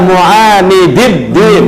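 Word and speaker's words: معاندي الدين: pertolongan kepada mereka, ala mu'anidid din, mu'anid dalnya dua, mu'anid itu orang yang mengingkari ad-din, agama.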